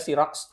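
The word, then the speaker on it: Xerox: duplikat jadi seroxet itu tulisannya serox bacanya sirox itu adalah e memfotokopi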